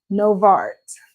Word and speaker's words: Nova Art: No, I said I definitely pronounced that really hard for you. Novart.